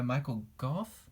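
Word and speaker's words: Michael Gough: is next played by Michael Goff and that's how you say it great character in the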